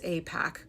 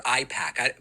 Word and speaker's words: AIPAC: far back as 2019, where Pakman can clearly, capably pronounce AIPAC correctly. AIPAC, support AIPAC. A few moments later. Outrageous claims suggesting that it's AIPAC or IPAC.